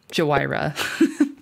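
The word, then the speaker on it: Jhoira: Which, as previously stated on Cumulative Upkeep, we will be pronouncing her name Jawira.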